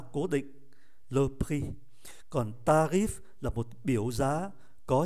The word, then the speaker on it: tarif: Chúng ta để ý chữ F này phải phát âm, bởi vì nó không nằm trong số các cái danh sách của các cái phụ âm câm.